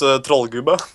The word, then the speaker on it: Trollgubbe: In Norwegian it's Trollgubbe, but in Trollgubbe. Trollgubbe, yes. Okay, Trollgubbe. Like a real Norwegian.